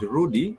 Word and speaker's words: rudi: It only has two syllables. The rudy sorry has two syllables. the R and the D. So the R has a syllable O and the D has a syllable E.